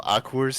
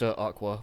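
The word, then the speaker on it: Aqours: to crowds like this by now after all akur had been relatively popular especially after they had won the love live oh it's uh it's pronounced Aqua by the way oh you're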